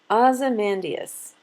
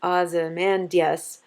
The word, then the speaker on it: Ozymandias: So when he says Ozymandias, he fits just 10 syllables on his line. If he said it the way I say it, then he would have an extra syllable and it would not fit the pattern.